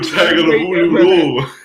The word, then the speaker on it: Tagovailoa: Why you gonna pronounce a man's name like that though, man? Tua Tagovailoa.